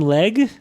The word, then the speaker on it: Legge: Uh, our joining us today is Sam Leg. Did I pronounce it right?